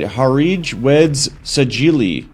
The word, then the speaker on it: Harij Weds Sajili: Let's see if I could pronounce it right. Harij Weds Sajili.